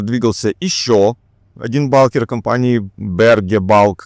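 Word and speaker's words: Berge Bulk: Напротив двигался ещё один балкер компании Berg Balk, как мне сказали, так оно правильно читается.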